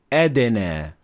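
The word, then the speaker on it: أدنى: of and in this position you have to pronounce the del with calcalla and you should say edene and if you want to learn more about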